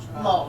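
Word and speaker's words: שלום: but it's part of our word yes shal Shalom shom now we hear an M sound at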